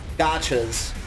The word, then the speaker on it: Gacha: to get black pearls is just to tame gotchas. And you want as high level gotchas as you can get. And that's spelled G-A-C-H-A.